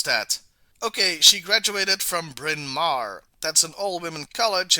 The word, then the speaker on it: Bryn Mawr: Lord I have to look up how to pronounce that okay she graduated from Bryn Mawr that's an all women College in Pennsylvania the